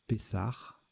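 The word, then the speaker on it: Pessah: Pessa, c'est la Pâque juive. On prononce Pessar.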